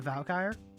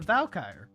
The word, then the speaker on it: Valkyrie: The Valkyre. No. Yes. Say it right. The Valkyrie.